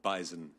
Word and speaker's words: bison: animal that is called Bison it is it does have a z I agree with the